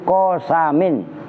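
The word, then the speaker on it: قسم: waunya wallahi itu harfu qosamin Nah itu bacanya qosamin Kalau qasmun giliran ya G bergilir qasmun kalau kismun bagian Oh itu tulisannya sama persis kalau qosam maknanya sumpah kalau qosmun maknanya menggilir ini giliran Siapa yang nyapu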